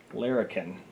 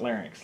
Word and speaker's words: Larrikin: CCP Larrikin. Larrikin. Yes. So it's not larynx, like I said in our previous.